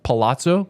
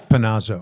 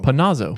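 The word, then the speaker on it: Panozo: But Chris Palazzo, that's how you say it. Panazo. Panazo.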